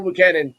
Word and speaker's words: Buchanan: I'm gonna pronounce his last name. I'm gonna butcher his last name. Buchanan. You got it. Buchanan, yeah, Bull Buchanan, yeah, yeah, They that's say his dad.